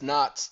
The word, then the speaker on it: Knox: For that matter, there appears to be little case law on the subject except the dictum in Henry Knox, that's Knox, the K is silent, Michigan 10, which supports Mr.